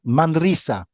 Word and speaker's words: Manresa: training at the Spanish Championship of Magic in Manresa. I hope I'm pronouncing that right. M-A-N. Is that Close. Manresa. Manresa.